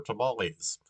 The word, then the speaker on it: Tamale: No, I really did look that up, like because it's like, well, why is there a city named after tamales? And it's pronounced Tamale.